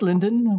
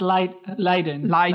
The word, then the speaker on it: Leiden: Linden, which is in the Netherlands. It's Leiden. Leiden. I mispronounced it.